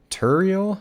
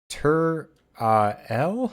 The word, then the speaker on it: Turael: know how I said earlier that I can't pronounce things in this game I've been calling him tural but it's tur L the a is before the E teril turl